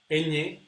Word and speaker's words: ñ: ñ in Spanish, and it's pronounced like this: ña, ñe, ñi, ño, ñu. Actually, the position of the tongue is very similar to the position where we pronounce the double L, ja, ja. So it's like pronouncing an N, na, ne, but putting your tongue, sticking your tongue to the top, and it's a very nasal sound.